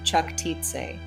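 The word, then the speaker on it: Čachtice: at her castle at kattic pronounced chak TI in Northwest Hungary now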